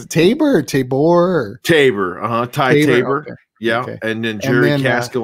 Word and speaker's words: Ty Tabor: it's left is it tabor tabor tabor uh ty tabor yeah and then jerry caskel on the drums